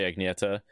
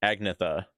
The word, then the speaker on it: Agnetha: Especially Agneta. Yeah, I mean, to be fair, I was pronouncing it Agnetha for a while. I'm pretty sure in the US there's people named Agnetha instead of Agneta.